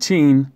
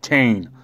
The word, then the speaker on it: Tain: Not Teen, Tain.